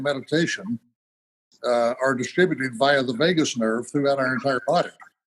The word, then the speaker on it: vagus: And your 3-step process is a way of stimulating that vagus nerve. By the way, that is pronounced like Las Vegas, but it's spelled VAGUS for those who may not have heard that term before.